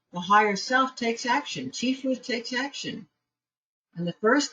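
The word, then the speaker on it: Tiphereth: When that paring away is done, the energy flows into Tifereth, the pH is pronounced as an F, which equates on the tree of life to your higher self.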